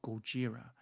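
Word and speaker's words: ゴジラ: just this this um monster Godzilla or Gojira as is pronounced in Japan is um like an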